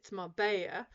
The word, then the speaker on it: Marbella: Okay, so Marbella, it's Marbella. But also, again, in different countries, the pronunciations are different, and even some of the words are different.